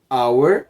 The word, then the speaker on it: hour: vogal por exemplo our hour seria hora em inglês e começa com H mas o h não é pronunciado então an hour se eu vou falar